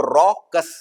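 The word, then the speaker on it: raucous: वन इज़ रॉकस तो रॉकस है guys R ए डब्ल्यू पढ़ेंगे हम इसको रॉकस जबकि आर ए यू सी रॉकस तो फ्लेवर ये है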